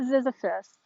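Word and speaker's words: Ziziphus: that you see here is called the florida zizyphus its botanical name is zizyphus salada and zizyphus is spelled z-i-z-i-p-h-u-s this is a species that was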